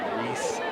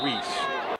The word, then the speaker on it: Reeths: It does, because you're thinking, you always want to say Reese, like a Reese's peanut butter cup instead of Reese.